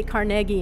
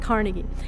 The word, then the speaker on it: Carnegie: music hall in pittsburgh they say carnegie in pittsburgh which is how andrew carnegie pronounced it so so there not carnegie anyway this is um